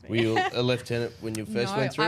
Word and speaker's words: lieutenant: So it's spelt lieutenant, but you actually pronounce it lieutenant.